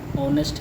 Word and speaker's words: honest: अभी भी ऊपर डिस्कस किया है, आवर है, ऑनेस्ट है, यहाँ पे हमारा एच साइलेंट है।